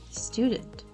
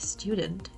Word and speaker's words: student: The first one would be adding letter E before every word that starts with S. This happens, for example, with words like student or school or special, which are pronounced as student, as school, or as special.